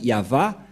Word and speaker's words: YAHVAH: dire non c'est pourquoi il est écrit ici yava et son nom c'est yava son nom et vous voyez que même les